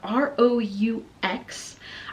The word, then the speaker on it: Roux: Next for a boy, I have Roux, and you can spell that R-U-E or R-O-U-X. I think you can even, with the R-O-U-X spelling, you could pronounce it Roux, but it literally means red.